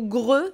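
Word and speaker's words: Grøh: deux nouveaux persos qui ont été annoncées dont gros alors ou greu visiblement ça se prononce grenat été créé spécialement pour soulcalibur 6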